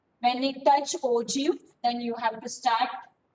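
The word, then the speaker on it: ogive: spelling is o g i v e will pronounce this as o g o g downward direction is that clear this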